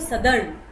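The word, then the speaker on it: southern: जो हम साउथर्न बोलते हैं इसमें TH हमारा साइलेंट होगा, इसको कहेंगे हम सदर्न।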